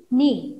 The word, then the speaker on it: knee: So knob, knife, knot, nil, knit, knee. So few words are there. Here K is silent. This K letter is silent. Silent means we don't pronounce that.